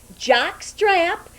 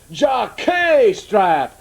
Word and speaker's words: Jacques Strap: And I'm talking with several very well-known sports commentators, Jock Strap, Jim Shorts, and Fanny Chaser. And they have very appropriate but unusual names for sports commentators. My name is French. It is pronounced Jacques Strap, not Jockstrap.